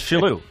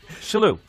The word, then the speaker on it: Shillue: Today we're with a very, very close friend of mine, Tommy Shillue. Tim Sherrod. You're pretending you don't know. It's Shillue. Shillue.